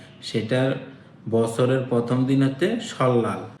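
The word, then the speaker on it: 설날: বছরের প্রথম দিন হচ্ছে সল্লাল আপনারা এটা উচ্চারণ করবেন সল্লাল কারণ রিউলের পরে যদি নিউন থাকে তখন নিউ এর উচ্চারণও ল এর মত হয় সল্লাল ইনা অথবা শিক মানে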